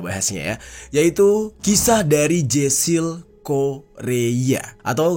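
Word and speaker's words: Jasiel Correia: yaitu kisah dari Jessil Korea atau kalau yang gua tahu itu e ucapannya adalah Jesil Kohea.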